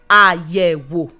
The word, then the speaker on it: àyẹ̀wò: Now, take the first syllable. That is the first syllable. Now take it, say it in your heart. Your voice was drops. That is do. Then the second syllable, is also do. Then the third one is it's also do. So we have three tone marks, and they are do.